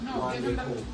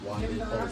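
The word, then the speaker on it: Wande Coal: How you pronounce his name again? Wande Cole. Wande Cole.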